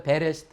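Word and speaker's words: בראשית: 리을 그래서 이것을 히브리어로 이제 모음을 붙여서 만약에 읽는다면 배에 그 다음에 요거 묵음이 되어지고 쉬이 팁 그래서 시트 그래서 이거는 이제 창세기 1장 1절부터 처음으로 나오는 단어잖아요 그래서 이것이 이제 히브리어 책명 첫 번째 단어가 히브리어 책 명이 되는 거예요 그래서 베레스트 하면은 시작에 이렇게 이제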